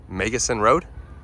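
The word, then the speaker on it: Meggison Road: if I'm wrong but I think that is pronounced megason Road that's how that's what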